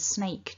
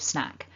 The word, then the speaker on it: snack: of the times that people have accidentally said the word snake to me instead of snack and that's why i've thrown this one in here so you can see we've got our um one syllable word with a short vowel that's the key to getting this right so let's break it